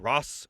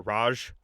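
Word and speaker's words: Ra's: Talia Al Ghoul famously the daughter of Ross or Raj Al Ghoul depending on how you say it.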